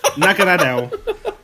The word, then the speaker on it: Naganadel: And then we've got Alex, would you like to pronounce that name? Naganadadadadel. Naganadel.